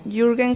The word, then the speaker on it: Jürgen: no me quiero boca si se pronuncian jürgen clive clear clyde se